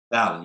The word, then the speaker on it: Dali: So today I am sitting here with Eric, pronounced it like Dali? Dali, yes.